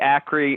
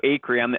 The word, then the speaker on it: Acree: Is that how you say it, Acree? Dude, you got it correct, and I am impressed because very, very few people get my name correct. They say Acree or Acree, so Acree.